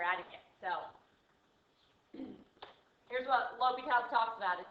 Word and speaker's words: L'Hôpital: Yes, it looks like Le Hospital's rule, but it is pronounced L'Hôpital.